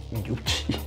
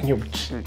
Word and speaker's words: Gnucci: Frank è ritornato ed è sulle tracce della pericolosissima famiglia mafiosa Gnucci. Gnucci, che non è Gnucci, che poi in inglese tipo dovrebbe essere pronunciato Gnucci.